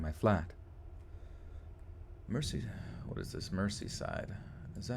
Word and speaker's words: Merseyside: Merseyside. Is that how you say it? Merseyside? Click print. I'm getting sloppy. Merseyside. Merseyside. Merseyside. Mersey? What the fuck? S pronounced with a Z?